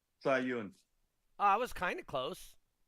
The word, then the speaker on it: Sahyoun: How do you pronounce your last name? Sahyoun, I was kind of close.